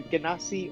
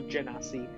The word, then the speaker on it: Genasi: It's either Ganassi or Genasi. Basically, it's like it's probably supposed to be Genasi because they're related to genies. But I say Ganassi, but you can say Ganassi or Genasi, however you want to say.